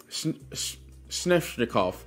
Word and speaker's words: Sveshnikov: They're saying it like it's an N in between it, but it's a V. So I'm just gonna say it like that. Sveshnikov.